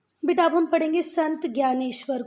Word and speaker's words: ज्ञानेश्वर: इसको इस तरीके से भी लिखते हैं ना, नहीं तो ये भी ज्ञानेश्वर है और ये भी ज्ञानेश्वर ही है। आप गूगल पे प्रोनाउंसिएशन देख सकते हो, दोनों को ज्ञानेश्वर ही पढ़ना है।